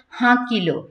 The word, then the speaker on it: হাঁকিল: হইয়া হাঁকিল, এই যে এখানে আছে চন্দ্রবিন্দুর একটা প্রভাব, নাসিক্য একটা প্রভাব আছে, হাঁকিল, মোল্লা ভেলা হলো দেখি